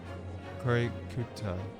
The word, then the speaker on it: Korikuta: The name is just pronounced Curio Collector. Korikuta.